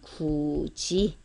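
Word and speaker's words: 굳이: 굿이라고 쓰지만 발음은 구지.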